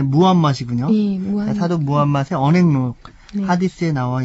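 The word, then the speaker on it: 무함마드: 하디스 지금 그 사도 우리 보통 그 어렸을 때는 마호멧 이렇게 배웠기 때문에 버릇이 되었는데 예, 원래 발음이 무함맛이군요.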